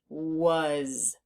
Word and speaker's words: was: The A is making the sound U. Uh as if it were a U, but it's not a U. It's an A. So we need to learn that part by heart. And the Z or the S is making a Z sound, which we haven't learned about yet, but sometimes the S does that. So this is was.